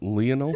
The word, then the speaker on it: Lionel: Amber, is that how you pronounce it? I said Lionel. It's Lionel.